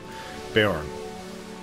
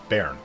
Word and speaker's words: Bearn: point i thought was his son bayern baron they pronounce it bear hopefully the nega have